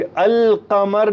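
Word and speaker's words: القمر: शम्स सूरज है अमस नोट करने की बात है कि अल कमर में लाम की आवाज मैं निकाल रहा हूं अल कमर जबकि यहां पर मैं लाम की आवाज को नहीं निकाल रहा अमस लाम टोटली साइलेंट कर दिया लाम साइलेंट अल कमर में लाम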